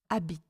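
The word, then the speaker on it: habite: the sound H because in France we don't pronounce the h Abit okay instead of habit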